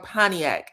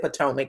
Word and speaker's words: Pontiac: Which was pretty um Did I say it Did I say it wrong? Pontiac. I'm my bad. Thank you for uh correcting me. Pontiac, Michigan. Okay, I said I think I might have said Potomac.